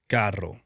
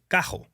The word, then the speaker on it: carro: We like to say carro. But you don't roll your R because in Puerto Rico we like to use our throat. So, it's cajo.